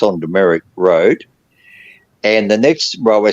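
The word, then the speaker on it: Dumaresq: called the Merrick now a lot of people go demeric oh how do you spell that and they go it's d-u-m-e-r-e-s-q yeah and there's an American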